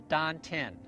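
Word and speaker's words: tantien: the chinese call the don ten spelled t-a-n-t-i-e-n but pronounced like a d like these dante a hard d it means the elixir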